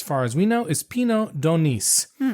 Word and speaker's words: Pinot d'Aunis: And the grapes, as far as we know, is Pinot d'Aunis. Again, you pronounce the S.